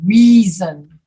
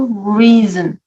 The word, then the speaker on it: reason: river river river and reason creeper reason yes the short the sound and river is very short there's another word with an s in the middle of it that's pronounced like a z reason reason reason it's